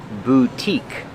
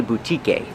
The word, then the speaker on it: boutique: Remember the pronunciation boutique. The e at the end is silent. We do not say boutique. It's a long u vu and a long e boutique.